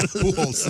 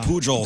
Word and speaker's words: Pujols: Oh, that's how you say it? Yeah, Pujols. I've been saying it Pujols.